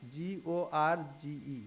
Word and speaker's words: gorge: colia Gorge so Gorge g o r g e Gorge so first is G and second G is J so you know where